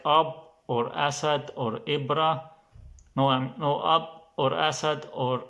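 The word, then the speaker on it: إبرة: in other words, like Ibra. Ibra means needle. Ibra means needle, then it's more like E or I, like Ibra, more like E, Ibra.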